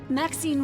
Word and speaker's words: Maxine: of most Exquisite varieties Maxine rhymes with Queen after all and dearest